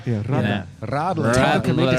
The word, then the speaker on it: Radler: But you got to say it like with a purr. Yeah, Radler.